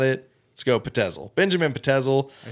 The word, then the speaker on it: Pitezel: where he meets so there's controversy on the pronunciation of the last name it's either benjamin pitezel or Petzl it's spelled out as if it would be Patel but I heard more pronounced at pencil I'm gonna go with